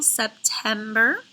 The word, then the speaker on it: September: Now you see that it's September. It is accented in the middle syllable, September.